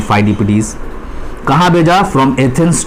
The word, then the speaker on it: Pheidippides: The Greeks Saint फाइडिपिडीज, फाइडिपिडीज ये spelling है PHEIDIPPIDES, जिसको कॉपी में आप 3 बार 4 बार नोट डाउन कीजिएगा ताकि स्पेलिंग इसकी याद हो, फाइडिपिडीज।